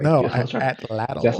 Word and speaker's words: Atlatl: Atlatl, yeah. I'm about to say, bro, like you paused, like I said it I wrong. said I'm like, a lotto. Like, no, I was trying, that's Atlatl.